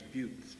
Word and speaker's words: Butte: I teach at what one professor at City College referred to as "Butt College." Actually, it's Butte. But it's spelled B-U-T-T-E.